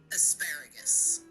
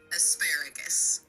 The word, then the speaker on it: asparagus: You pronounce it asparagus. It's pronounced asparagus.